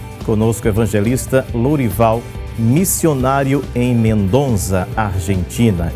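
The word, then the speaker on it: Mendoza: Missionário em mendonza Argentina é assim mesmo pronuncia né pastor Mendonça é como se se fosse com c cedía Mendonça mas na verdade se escreve com Z é que o z tem o som de c cedía Mendonça ISO quanto tempo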